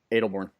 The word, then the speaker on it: Aldbourne: Aldbourne, England? Adelbourne.